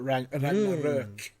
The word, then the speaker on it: Ragnarök: Speaking of games, I've been playing God of War Ragnarok, or Ragnarök, as it's pronounced.